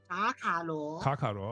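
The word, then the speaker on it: 卡卡罗: What's the Chinese pronunciation of his name? Kaka what? Kakaro. Okay, so that's why people call him Kakarot in like in Dragon Ball Z, like Goku's real name.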